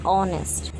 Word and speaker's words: honest: He is an honest man. Here, H is a silent letter. So we just see the sound of O. O, that is a wall. So here you can see and honest.